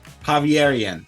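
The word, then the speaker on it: Javeriana: graduate certificate at pontifical we're trying to pronounce this one earlier today javierian I got that right you got it right okay University and uh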